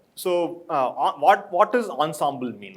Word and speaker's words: ensemble: so but the word, the way people pronounce ensemble, I was guessing it is French, and I'm moving with it, right? So it's not ensemble, but ensemble. Right? So French has different pronunciations.